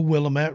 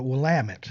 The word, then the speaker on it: Willamette: on the banks of what i would say the willamette river but it's actually uh willamette they they say it differently so who knows but